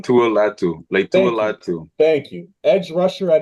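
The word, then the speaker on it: Laiatu Latu: I'm gonna say this name wrong, so help me out here. Latu. I think that's his name. Leitua Latu. Leitua Latu.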